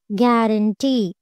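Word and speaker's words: guarantee: Next one గ్యారంటీ. గ్యారంటీ. సో ఈఈ అనేది టీని కూడా మిక్స్ చేస్తుంది కాబట్టి టీ మీద మనము స్ట్రెస్ మార్క్ అనేది ప్లేస్ చేయాలి.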